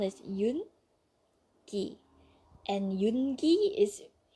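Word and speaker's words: 윤기: Just listen to me, okay? I know the correct way to pronounce it.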